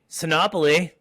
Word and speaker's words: Sinopoli: always excited for my episodes today with copoly did I say it right yes you did